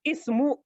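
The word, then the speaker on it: اسم: written in the beginning we pronounce this ism we said ismu but in the middle in the middle we are not pronouncing it why because this is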